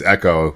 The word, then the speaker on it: Ecco: Then someone's like, it's Echo. I was a little kid, and I was like, oh, yeah, I'll pronounce it correctly then.